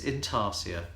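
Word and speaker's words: intarsia: again is inaria now I've often said inasa because of the siia but my dictionary here is telling me in the phonetics it's in tarsia um so I will now amend my own pronunciation of the word inaria and I should go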